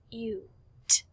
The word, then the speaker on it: cute: It now becomes cute. Cute. This is a long U. The E is silent. We don't hear it at the end, but it changes the word.